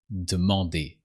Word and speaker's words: demander: And usually we say demander. Demander. You don't pronounce the E, just demander.